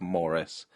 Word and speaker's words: Maurice: Brackets the actual the the phonetic reading of Morris uh above the title so that I I say it correctly